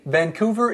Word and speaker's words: Vancouver: See, Vancouver is in Canada.